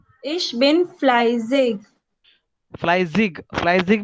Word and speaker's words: fleißig: Und Und ich bin fleißig. ich bin fleißig.